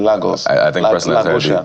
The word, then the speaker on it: Lagos: Well, if you're in Portugal, it's pronounced Lagos. I mean, somebody in Lagos, yeah, pronounced Lagos.